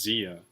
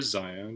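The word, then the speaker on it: Xia: 2 years ago, my number 1 was Zia. Wow. Or Zaya, depending on how you want to pronounce it.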